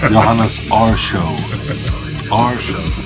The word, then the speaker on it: Johannes Arsjo: do you say your name AR joh show johannas AR show after has begun we have